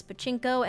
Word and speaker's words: pachinko: their, I don't know how to say this, pachinko? Yes, pachinko and resorts than games lately.